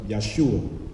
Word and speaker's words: Yeshua: Now, if you notice, I use the term Jesus, and then I also use the term Yeshua. Sometimes Yeshua is spelled Y-E-S-H-U-A or Yeshua, Y-E-H-O-S-H-U-A, which means salvation, or Yahweh is my salvation.